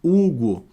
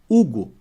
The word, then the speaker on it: Hugo: som a palavra Hugo o nome Hugo ó risque esse h e vê se mantém o mesmo som Hugo Manteve Ah então quatro